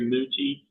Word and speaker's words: Mooty: my name is MTI uh that's m o Ty some people SP spell it Dy but I'm a Ty uh I'm the CEO